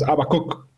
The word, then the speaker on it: Habacuc: ¿Cómo se pronuncia tu nombre? Habu. Habacuc. Es Abacuc.